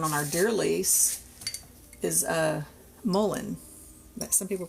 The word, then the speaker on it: mullein: And one that we found on our deer lease is mullein. Some people pronounce it mullein.